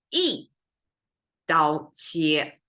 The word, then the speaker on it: 一: The textbook pronunciation of one is 一. If you learn Chinese, it's 一二三, 1 2 3. But here you see 一刀切, because if we turn it into flat tone, it will be flat, flat, flat. That will be too difficult to pronounce.